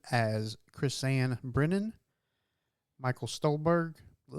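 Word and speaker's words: Stuhlbarg: Michael Stolberg. Stole bar, didn't it?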